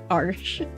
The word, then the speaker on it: Arches: is arsh arsh I I learned how to pronounce that arsh so that's my favorite but of course there's